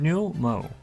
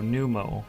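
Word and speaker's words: Nu Mou: A new Mao? New Mu? New Mo? I will call them New Mo. Because it is spelled N-U space M-O-U. So New Mo is what I'm gonna call these guys.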